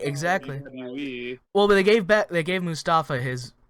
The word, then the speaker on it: Mustafa: They say Mustafa. I'm like, why do you say it like that? They're not like hard pronouncing the T. They're like Mustafa.